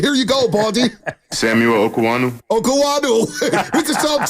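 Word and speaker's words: Okuayinonu: We've been butchered it. Here you go, Baldy. Samuel Okuwanu.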